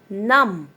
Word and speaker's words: numb: Numb. Not numb. Numb. As I had underlined the B, मैंने B को underline किया है, तो इसका मतलब ये है कि B silent है.